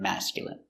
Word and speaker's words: masculine: Words ending in i can have different pronunciations. All of these have the sound in. Imagine, examine, engine, discipline, feminine, and masculine.